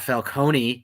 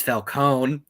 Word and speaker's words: Falcone: also we finally got it's not falcone it's falcone so there's that been pronouncing it wrong all these years apparently you have but